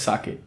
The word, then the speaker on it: sake: you can say like the K is pronounced as a c in cake so cake you pronounce k and the sake in K is also like K so put together it's sake the story is that